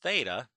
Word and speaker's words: theta: Okay, so the sine of theta, that's by the way how we pronounce that little variable, is the opposite, which is y, over the hypotenuse, which is r.